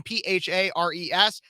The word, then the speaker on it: Phares: Speechless with Kev Phares, last name Phares, pronounced like Ferris Bueller, spelled a whole heck of a lot differently.